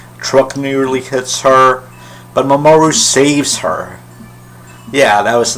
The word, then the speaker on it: Mamoru: Actually, they pronounce it Mamoru. So yeah, they seem to put the stress on the first syllable of all the names, except Usagi and Ami.